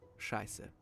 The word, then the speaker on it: Scheiße: It looks like this and is essential for our all-time favorite word, Scheiße. The sz is used to indicate the hard s sound.